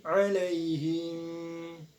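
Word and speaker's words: عليهم: Alaihim. Nah, di sini ada hukum bacaan mad arid disukun. Mengapa? Karena alaihim, nah panjangnya boleh 2, 4 ataupun 6 harokat.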